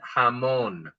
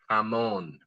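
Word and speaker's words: jamón: And then the J we talked about is having an H sound. This first word is for ham. Everybody try it. Hamon. Hamon. That's ham. Hamon.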